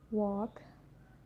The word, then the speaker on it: walk: So the letter L can be silent too. It's quite common when you look to example, like could, should, talk, walk, york, half, calf, salmon.